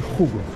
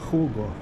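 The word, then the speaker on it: Hugo: бренды здесь рыбок много даже не умеешь как читается правильно а окажется здесь чемоданы сумки а здесь одежде хугу Хуго здравствуйте Здравствуйте Я так просто я думаю лучше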